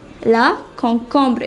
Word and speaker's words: concombre: karot it means carrot the next vegetable is la concombra la concombre it is the cucumber la concombra next one